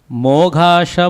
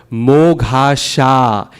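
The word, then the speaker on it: मोघाशा: So the first word, moghasha, even though that A is at the end, it needs to be long. So we can't do moghasha mogha karmano.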